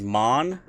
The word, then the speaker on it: Maan: So, starting in with the language, we've got the first word is Maan, M-A-A-N, and is pronounced M-A-H-N, which means the original or first.